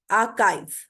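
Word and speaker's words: archive: जीमल में होता है यह वर्ड अइ नहीं होता यह अकाव होता है वर्ड आर्काइव आर्काइव ठीक है ये वर्ड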